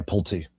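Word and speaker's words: Pulte: Yeah, Pulti. Pulti, okay. Bill I got it right. Oh my gosh. All right. So, Bill Pulti is cleaning house.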